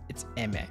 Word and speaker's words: Aimer: I said her name wrong. According to Google, it's Emmet.